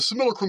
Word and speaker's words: simulacrum: on a neutral field this similacrum actually you pronounce the word correctly I'm just so used and I'm stuck into my Southern Texas ways I'm going to continue to pronounce it as similar Chrome but the scenarium is